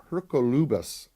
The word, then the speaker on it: Hercolubus: this this red planet they also call it hookah Hurka Lubas I believe is the pronunciation I'll ask Carlos when